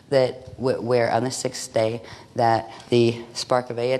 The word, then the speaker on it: Te: the T, or the day. It's actually pronounced day, but it's spelled the T-E, and that's what is used as in the martial arts training and stuff.